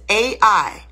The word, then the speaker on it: Ai: they left there and went to fight against A.I AI That's how you pronounce that's the word a letter A the